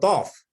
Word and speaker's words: Thoth: Yeah, and the Book of Thought is THOTH. Oh, Thoth, like THOTH. Oh, the Book of Thoth. Yeah. I heard you said the Book of Thought. You said the Book of Thoth.